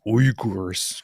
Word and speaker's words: Uyghurs: It's Uyghurs. Gotta say it properly. I'm gonna say Uyghurs, like every other American. Uyghurs.